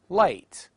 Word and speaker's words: light: The letters GH in various words, such as night, light, taught.